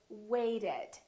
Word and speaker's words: waited: So this ED has an extra syllable. So we actually say waited.